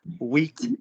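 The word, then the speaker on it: huit: before all of you what four numbers do we not pronounce in the way that you think they should be pronounced sank cease weak and deep you do not pronounce those words in full if the next word starts with a consonant saved me five people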